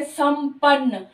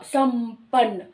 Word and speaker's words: संपन्न: संवाद, इसी तरह संपन्न, प ओठ से आ रही है, तो इसलिए इसका उच्चारण भी, इसका जो अनुस्वार है वो भी म की साउंड दे रहा है, संपन्न, संवाद, है ना।